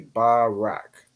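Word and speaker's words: ברך: Rah and then K the Rah and K joined to make Rak so it' be Barak Barak right like officer Baracka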